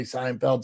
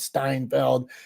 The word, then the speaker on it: Seinfeld: this is this common as he's aging he pronounces more things wrong like he'll say Seinfeld Steinfeld if there's a place called delilos he'll call